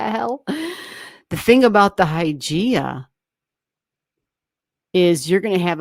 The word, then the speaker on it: Hygeia: It's spelled Hygeia. And it might not even be pronounced Hygeia. That's just the way I pronounce it. Hy, Y as in yes, G as in G, EIA. That's Hygeia.